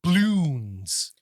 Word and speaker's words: Bloons: Is something called Bloons. Can you spell that? Bloons. Bloons. Okay. Bloons. Is it like apostrophe? Is it like doubloons? No, it's like apostrophe as in balloons.